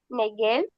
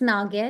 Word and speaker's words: Nagel: Mumbai H Numbai Nigel. Not Nigel. Nel. It's Nagel.